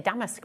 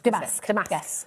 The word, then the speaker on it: damask: I always say damaskque, but it's Damas. Damask.